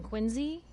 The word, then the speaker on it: Quincy: a traitor up from quincy do you have enough supplies to keep the general store scheduled to always pronounce quincy as if it has a z in it you hear that